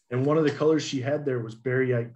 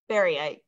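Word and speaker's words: baryte: And how do you spell baryite? Just for my personal. Well, and I'm probably pronouncing it incorrectly. So let's actually, if I read it, we'll call it barite.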